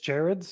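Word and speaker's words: Gerads: you say the artist's last name again Mitch Jareds is how Jareds Jareds his art in this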